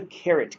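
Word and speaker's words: caret: you put this guy it's called The Carrot key spelled like uh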